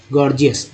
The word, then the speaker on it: gorgeous: अब यहाँ देखिए गॉर्जियस, एक वर्ड ले लेते हैं, GORGEOUS, गॉर्जियस में पहला जी ग, दूसरा जी ज के रूप में उच्चारण हो रहा है, गॉर्जियस। टी को ट तो बोलते हैं, चसा बोलते हैं।